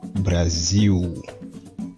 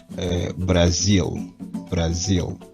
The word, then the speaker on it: Brasil: Généralement, les Brésiliens vocalisent ce L final comme un OU. Mais les Portugais prononcent un L parfois comme un L de l'anglais. Donc, par exemple, le mot Brésil en portugais, les Brésiliens diront Brasil, alors que les Portugais diraient Brasil.